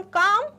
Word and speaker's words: calm: This is the correct spelling, जिसमें आता है बीच में L। ओके, बट बोला नहीं जाता तो L है इसमें साइलेंट लेटर, और बोलते हैं हम काम, पर होता है स्पेलिंग में CALM।